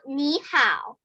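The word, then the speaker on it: 你好: third tone third tone but you pronounce it second tone third tone so it's like me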